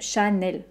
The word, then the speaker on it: Chanel: l'achat mais elle même temps pour les deux syllabes chanel celle ci aussi même chose même jose mine